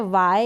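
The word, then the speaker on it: why: फिर ये है वाई, यहाँ पर भी H को प्रोनाउंस नहीं कर रहे, जितनी भी स्पेलिंग है इस रूल के अकॉर्डिंग हम H को प्रोनाउंस नहीं कर रहे हैं।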